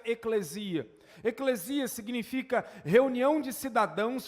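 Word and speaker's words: ἐκκλησία: O termo igreja, na língua grega em que foi escrito o Novo Testamento, pelo menos boa parte dele, se pronuncia eclesia.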